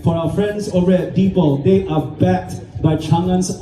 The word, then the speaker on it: Deepal: If we're going to say the brand name, it's pronounced Deepal. Like people, but Deepal.